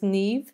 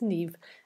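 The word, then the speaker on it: Niamh: a good Irish name M H is like a V in the Irish language that's why it's pronounced completely differently than the way it's built so it's Nev and chroma DiMaggio is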